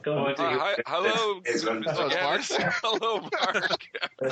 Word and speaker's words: Gatiss: He'll kill you though if you don't say Gatiss.